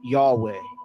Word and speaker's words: Yahweh: the English language as yhwh and it is pronounced as Yahweh now there are some people who pronounce it